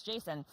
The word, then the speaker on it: JSON: doing auteur rules, so the creator's like, it's Jason. Well, the creator of GIF, and it is pronounced GIF, has said that it is GIF.